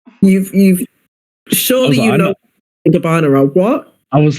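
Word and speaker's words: Gabbana: next day is like, "How do you spell Gabana?" And it's like, "You live in you live in New York, so you've seen an ad. You've you've surely you know gabana."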